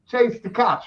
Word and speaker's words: Chase Tkach: I mean, Chase Tkach, right? Yep. Wow, you're the first person to actually pronounce it right.